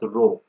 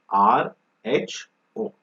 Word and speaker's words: rho: Okay, it is pronounced as rho, not R-O-W, R-H-O, rho.